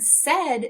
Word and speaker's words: said: a but not today in the word said they're making the sound e as if it were a short e and because of that